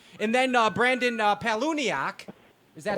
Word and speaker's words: Palaniuk: time Big Time and then uh Brandon uh paluniak is that how you say his name yes